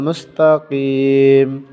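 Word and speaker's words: مُسْتَقِيم: মিমে জবর মা কিমা, বামে অক্ফ থাকার কারণে তিনটে হরফ একসাথে উচ্চারণ হবে। কিম, ইহদিনাস সিরাতাল মুস্তাকিম, সদে জের সি, রর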